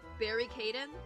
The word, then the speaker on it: Caden: Barry Caden. Is it like barricade? Barry Caden? Oh yeah, barricading. Yeah, that's his name. That's it's how that's pronounced.